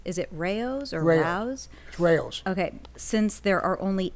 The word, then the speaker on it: Rao's: Sammy, did you have a personal table at, I can never pronounce this, is it Rao's or Rao's? Rao's.